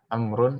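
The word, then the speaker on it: عمرو: oh ini sebenernya Amor amrun Amrin Kenapa dikasih Wow untuk membedakan antara dia dan Omar sebenernya amrun Amrin tapi wow Karena untuk membedakan saja dibacanya Amr tadi biar enggak bisa kasrah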